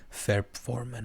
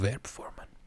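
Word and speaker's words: Verbformen: دیگه و فورم پون این رو میتونید ورب بگید بهتره دیگه اینم جز هموناست که میبینید ف گفتم تلفظ میشه ولی و میگن فرب هم یه سری جاها من دیدم که آلمانیا میگن فرب فورمن هم دیدم که میگن ولی من بهش میگم ورب فورمن چون فرم ورب ها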